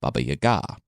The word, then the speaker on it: Baba Yaga: Kashi as I wasn't really saying correctly and Baba Yaga who's actually pronounced Baba Yaga which from now on I'll say that but